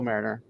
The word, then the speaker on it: Merringer: talking yeah Mariner um just not the way you think it's spelled but um it's like marrier is more like it um but essentially